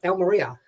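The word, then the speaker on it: Almería: And you've got to pronounce it right. It's Almeria, as I say.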